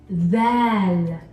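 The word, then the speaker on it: ذ: this letter is called then then stick out your tongue and put your teeth on your tongue then that makes a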